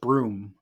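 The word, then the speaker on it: Bruttenholm: Holm or most like as mola says it's supposed to be pronounced broom um he's kind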